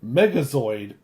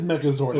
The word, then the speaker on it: Megazord: Um, Haley, also known as my wife, says, "BTW, listening to your last episode, Adam saying Megazoid instead of Megazord is giving me the ick."